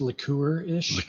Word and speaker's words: licorice: with an eye licorice it's actually pronounced liquor-ish um and then some